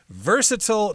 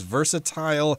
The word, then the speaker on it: versatile: so she's got these versatile talents you could also pronounce this word as versatile it can be pronounced both ways it just means you